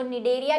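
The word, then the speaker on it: Cnidaria: निडोसाइट, जो निडेरिया लिखा हुआ था ना, संग निडेरिया सिलेंटेटा, वो सी से शुरू होता है लेकिन सी साइलेंट होता है।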